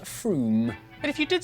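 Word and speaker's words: Frome: or on your train wrong it's not from f-r-o-m-e it should be blitheringly obvious it's pronounced froome but if you did say from don't worry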